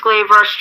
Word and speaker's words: Glaive Rush: Yes, Glaive Rush.